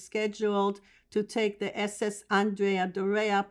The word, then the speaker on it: Andrea Doria: He was scheduled to take the SS Andrea Doria, pronounced thusly, an ocean liner for the Italian line